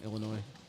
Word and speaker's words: Illinois: with tornado it's in Illinois Illinois I'm saying Illinois yeah I mean that's that's the right way to say it but everyone's like if